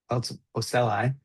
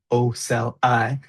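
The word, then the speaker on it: ocelli: So they're the pronounced oeli is pronounced oeli oeli in the plural form and oel us in the uh singular form.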